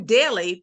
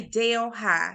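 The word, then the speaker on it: Delhi: Vicksburg Mississippi in Louisiana um and it's not pronounced as uhh what is it from India it's New Deli but it spelled the exact same way D LH I but we say Dale High so maybe that's just a little country in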